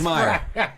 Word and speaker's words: Schmier: It only lists Yo, they must have got a Skymir or Skymir. I don't know how to pronounce his last name.